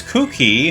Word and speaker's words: Kuki: So now we are playing as Kuki, and I hate the way I have to pronounce his name because it sounds like I'm saying Cookie.